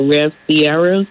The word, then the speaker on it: Ciera: So it's spelled out re V C I E R A. Rev Sierra, right? Uh cuz I was doing it s I E R A.